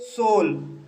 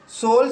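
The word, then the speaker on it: soul: लेकिन दोस्तों, जब ओ यू के बाद एल हो तब ओ यू का उच्चारण ओ होता है, जैसे सोल। सोल शब्द में ओ यू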